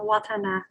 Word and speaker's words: Watana: get it right uh you can just pronounce the watana watana all right okay but if i'm to do it in full would be char watana yes good morning right